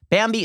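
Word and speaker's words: Bambee: an average of 70 000 bucks a year bambi is spelled b-a-m-b-e-e it was created specifically for small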